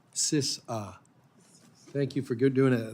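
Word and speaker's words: CISA: the cyber security and infrastructure agency or phonetically sisa thank you for good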